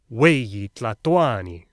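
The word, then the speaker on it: huey tlahtoani: Oh, and they stressed the second to last syllable, Cuicatl, Weyi Tlatoani.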